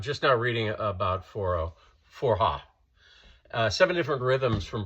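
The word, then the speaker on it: forró: region of northern Brazil and a music called Forha. It's it's spelled F O R O and and basically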